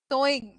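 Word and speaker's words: sewing: Same pronunciation है, सोइंग है ये, सोइंग मशीन।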